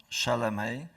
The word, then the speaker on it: Szelemej: Pronunciation, ladies and gentlemen, pronunciation was pretty correct. My name is Szelemej.